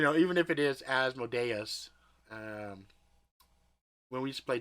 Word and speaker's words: Asmodeus: Asmodeus. Asmodeus. Yeah, it could be. I used to say Asmodeus, so I know it sounds like odious, malodious.